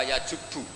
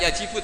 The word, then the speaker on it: yajubbu: Itu bacanya bukan yajibu tapi apa? Yajubbu ayaktau. Nah kalau pas ini kamu baca yajibu kan, al-Islamu te Islam yajibu, pusing kamu.